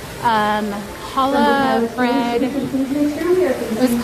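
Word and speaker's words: challah: I think that's how you pronounce it. C H A L L A H.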